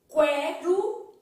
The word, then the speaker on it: quero: estica a massa beleza Olha a diferença tá quero e quero quero você não fala quero então